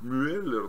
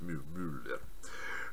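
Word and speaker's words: Mueller: Значит, в Америке его произносят как Мюллер, но, как мне уже объяснили, это немецкая фамилия, надо читать Мюллер.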